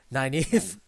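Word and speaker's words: Nynaeve: not what's her name naive naive did i say it right yeah that's correct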